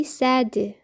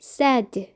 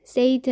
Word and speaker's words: said: 누가 말했다 할 때 S-A-I-D, said. said입니다. 발음이 said. said 아니고요. said.